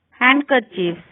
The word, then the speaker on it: handkerchiefs: D is not pronounced in the following common words: handkerchiefs, Wednesday, sandwich, handsome. D is not pronounced in the combination D, G.